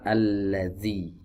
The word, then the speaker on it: alladzi: Ya, alladzi salah, yang benar alladzi.